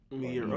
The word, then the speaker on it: Miura: I don't know how to pronounce it. Kentaro Miura. I forget. Let me look. Miura? Miura, okay.